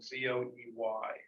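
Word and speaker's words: Zoë: And it's COE, but the 2 dots help with the pronunciation, so it's not so. Like Joe.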